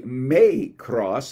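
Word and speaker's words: μικρός: little translates the greek word my cross or it's actually may cross is is the better pronunciation may cross in this context it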